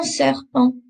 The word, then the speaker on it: serpent: Je suis allée au zoo et j'ai vu un serpent, un serpent, un serpent. Again, just take note that I'm not pronouncing the T at the end. We've got that nasally sound again.